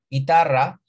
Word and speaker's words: guitar: Bueno, se pronuncia igual, solo que la mayor fuerza de voz está en la segunda sílaba. No es guitar, sino guitar.